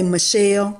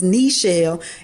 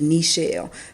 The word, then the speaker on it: Nichelle: with my name because people always say Michelle because it's Nichelle. And I pronounce it just like that. My parents do. It has a little asterisk over it, over the I. And it's just like your knee, Nichelle.